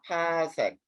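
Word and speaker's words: 파섹: 그 다음에 세 번째는 PC라 그래서 파색이라고 읽어. 파색.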